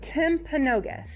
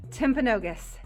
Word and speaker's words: Timpanogos: i have to ask how do you say it timpanogos i keep wanting to say tip a canoe yeah so tim pinogas there we go timpanogos cave national monument so